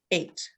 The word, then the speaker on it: ate: So if I blended this together, it'd be 8, and the E is silent. So the word is, what's the word? 8.